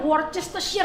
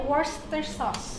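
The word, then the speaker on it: Worcestershire: Saus bistik tuh tulisannya worches sheer yang susah banget dibacanya itu bacanya worster sauce.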